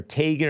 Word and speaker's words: Teigen: married to chrissy legend chrissy teigen or tegan or tygan i think it's really supposed to be pronounced tygan but she doesn't correct